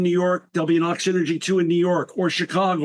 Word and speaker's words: Oxynergy: I land in New York there'll be an Ox Energy 2 in New York or Chicago or Miami.